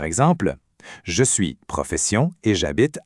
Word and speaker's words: j'habite: Et pour dire où on habite, la phrase c'est "J'habite à". Faites juste attention à la petite contraction ici. Le verbe c'est habiter, ça commence par un h muet. Alors le je devient j'apostrophe. On dit j'habite.